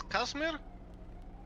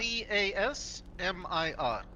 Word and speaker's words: Casmir: so I can write this down yeah it's kasmir kasmir how do you spell that c a s m i r Casmir oh happy birthday from from a few